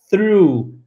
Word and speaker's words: through: Vamos pensar aqui em outra palavra, por exemplo, through, through. Então, você pensa, então, ó, tra. Aí você vai lá, tre, tri, thro, through.